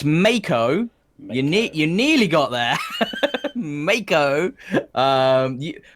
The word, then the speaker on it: Mako: Mako, or the Mako, however you want to pronounce it, which I understand is reviled. It's Mako.